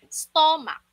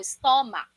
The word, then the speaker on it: stomach: Usually, sabi ng iba, ito ay stomach. Tagalog na Tagalog, no? Stomach. Stomach. O na O, stomach. Yun kasi yung spelling, kaya nababasa ka doon. Pero ang pronunciation dito, ay stomach. It can be stomach or stomach. Again, it can be stomach or stomach. Mac or mic.